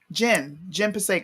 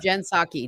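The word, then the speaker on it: Jen Psaki: what's her name um Jim Passaic or something like that Jen saki jensaki saki okay I said yeah that was such a black person's move my bad I I still I I pronounced it as it read black no just okay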